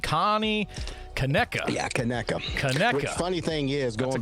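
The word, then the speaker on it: Conecuh: I was saying Kaneki, Connie, Kaneka. Yeah, Kaneka.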